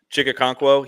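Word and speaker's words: Okonkwo: And and uh, how do you pronounce that guy's name? Chick Chiga. Chicka Conquo. Chica Conquo, he's on the last year of his rookie deal.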